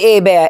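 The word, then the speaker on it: Hebert: Do um Bobby Abea. H E B E R T. Yes. The H is silent. It's French.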